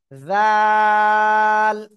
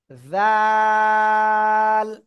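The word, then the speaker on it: ذال: দাঁতের আগার সাথে লাগিয়ে জিহ্বার আগা সামনের উপরের দুই দাঁতের আগার সাথে সাথে লাগিয়ে নরম করে আমরা উচ্চারণ করবো তিন আলিফ টেনে পড়বো জাল জাল সবাই বারবার এটা উচ্চারণ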